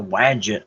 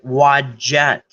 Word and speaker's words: wadjet: that I have horse called the widget eye or I'm sorry wadjet so they had way